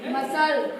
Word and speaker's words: muscle: एक स्पेलिंग है SOCCER और दूसरी स्पेलिंग है MUSCLE। चलिए इसको पढ़िए एक मिनट तो। साकर, ये मसल, ठीक है, सॉकर एंड मसल।